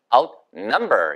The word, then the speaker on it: outnumber: out 강조해도 되고 number 강조해도 됩니다. 근데 number의 액센트가 있어요. 보세요. outnumber. 이런 식으로 아시겠죠? 예, 그렇다고 number 이렇게는 안 되니까 out이란 발음을 정확하게 하셔야 된다는 뜻이에요.